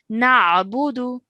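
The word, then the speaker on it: نعبد: Okay, and then of course, over here again, we have an ayn. So try and pronounce that correctly as well, okay? Na'budu.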